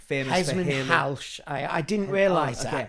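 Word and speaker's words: Hesmondhalgh: Halsh. I didn't realise okay. that. That's how it's Edmund pronounced.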